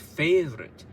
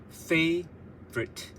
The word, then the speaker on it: favorite: So this is pronounced favorite, and then you got the rhythm, favorite.